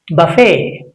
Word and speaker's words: buffet: We should not make it louder. That means it's a silent. It becomes silent.